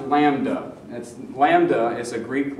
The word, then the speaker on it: lambda: And I believe it's pronounced lambda.